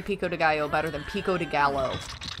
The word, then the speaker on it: pico de gallo: time like for example they made Pico the Gallow pico de gallo no it's pico de gallo like I have a really bad accent I'm an American I